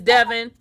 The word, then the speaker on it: Devon: Okay, you heard him pronounce it. So it is Devon.